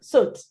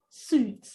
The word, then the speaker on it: soot: Last word for this particular drill is, take the word soot. Soot. Soot. So how do you pronounce that word?